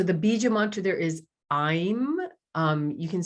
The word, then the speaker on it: Aim: And so the Bija mantra there is Aim. You can spell it A-I-M or A-Y-M, Aim.